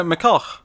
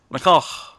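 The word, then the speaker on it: McCulloch: Yeah, McCullough. That's how you pronounce it. McCullough.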